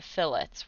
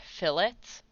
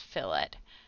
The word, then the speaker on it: fillet: that it is pronounced fillets whereas if you're talking about like a piece of meat it would be a fillet um but for whatever reason we pronounce this fill it uh so a little